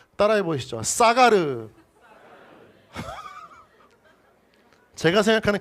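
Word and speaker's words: סָגַר: 이 히브리어 동사인데요, 좀 발음이 조금 위험하지만 잘 따라해 주면 좋겠습니다. 자, 따라해 보시죠. 사가르.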